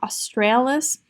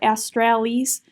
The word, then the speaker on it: Australis: They call it Corona Australis or Australis, whichever way you want to pronounce it.